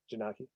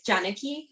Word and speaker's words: Janaki: Yes, Janaki. Did I pronounce that correctly? No, but that's okay. It's Janaki.